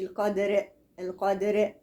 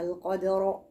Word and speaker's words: القدر: القدر وما لو هوصل، إنما أنا هقف عليها تبقى في ليلة القدر، وقف على راء مفخمة، ما أقولش القدر، لا، القدر. تمام.